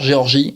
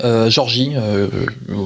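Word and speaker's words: Georgia: le printemps c'est Pfeiffer Géorgie Georgie prononcé comme vous voulez la Britannique la leader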